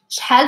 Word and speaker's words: shhal: Oh yeah, I forgot the H, sorry. This is should be like CH.